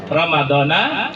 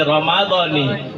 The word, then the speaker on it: Ramadani: Kalau kita bacanya dewean, nawaitu sama ghadin an ada ifardi syahri Ramadani hazihi sanati lillahi ta'ala. Kita tahunya Ramadana itulah ya. Rupanya bukan dona, doni.